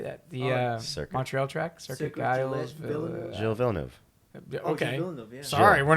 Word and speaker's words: Circuit Gilles Villeneuve: Circuit Gilles Villeneuve.